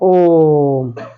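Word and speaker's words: ओ३म्: हमें क्या करना है, इस वर्ण के पहले जो स्वर है उसका उच्चारण मूल स्वर से 3 गुना तक करना है।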